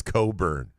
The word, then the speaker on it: Cockburn: know if it's anything close to cockburn where it's Coburn with in it yeah is silent at a certain point